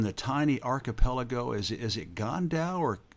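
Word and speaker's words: Côn Đảo: Is it Gan Dao, or how do you pronounce it? Coin Dao.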